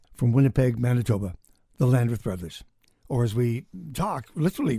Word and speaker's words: Bros.: Winnipeg, Manitoba, the Landreth Brothers. Or as we talk, literally right off the bat, the Bros Landreth is how it looks, not how it's said.